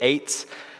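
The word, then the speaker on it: עץ: That's how you say it, eitz.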